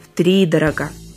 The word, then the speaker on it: втридорога: Запомнить постановку ударения поможет числительное «три» с его единственной гласной «и».